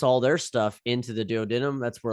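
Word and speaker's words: duodenum: our small intestin here called the dadum or dood denum however you want to pronounce it I kind of go with dood denum um I kind of say both uh the dood denum is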